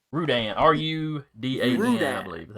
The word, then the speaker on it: Rudan: I thought it was Rodan. Rudan, R-U-D-A-N, Rudan. I believe is how you spell it.